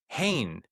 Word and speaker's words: Hehn: Hain, A-E sound, Hain. Mhm. Can I ask you maybe the history of that name or Yeah. So I married into it. I was pronouncing it hen for the first year